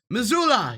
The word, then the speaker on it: Missoula: votes in there few votes in missouri uh missoula yeah that's how you say it few votes